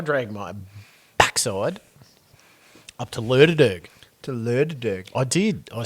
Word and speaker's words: Lerderderg: I dragged my backside up to Lerderderg. To Lerderderg? I did. I spent 2 nights up at Lerderderg. I'm glad you've pronounced that and haven't asked me to read that out loud.